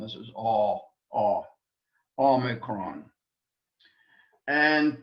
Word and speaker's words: Omicron: Omicron is a vowel again, and really shouldn't give us any problems, except in the pronunciation of it, that we don't confuse it with the long O sound.